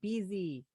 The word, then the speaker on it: Beezy: And Kristen Beezy. Oh man. Yeah, don't worry. It's spelled like Reese. No, I say it rhymes with easy, but when I was younger, that one had problems too.